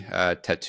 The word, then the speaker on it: Tautou: Amélie was released in 2001 by writer-director Jean-Pierre Jeunet, starring Audrey Tautou. Don't pronounce the T.